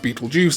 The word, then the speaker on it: Betelgeuse: is more correct, but Betelgeuse is not as incorrect as a lot of people like to make out. Language is ever evolving, and so while yes, traditionally the constellation is not pronounced Beetlejuice, it has now kind of become an official pronunciation.